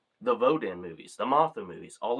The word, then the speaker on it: Rodan: So, next up, Rodan or Roden as for some reason uh a couple people pronounced it in this movie, but Rodan.